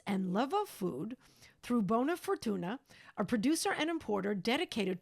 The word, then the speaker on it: Bona Furtuna: Owned and operated a cookie company, and is now thrilled to be part of Bona Furtuna. Am I pronouncing it?